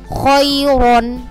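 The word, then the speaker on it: خيرا: Kemudian contoh yang kedua, khairon. Ya, ro-nya dibaca tebal.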